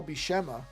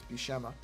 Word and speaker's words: Buscema: One of the legendary comic book artists, Sal Buscema, I think that's how you're supposed to pronounce it, Buscema, just died.